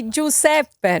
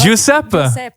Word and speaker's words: Giuseppe: So but you should say Giuseppe. No? Giuseppe.